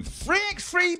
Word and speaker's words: 3x3: Welcome to 3x3 Basketball.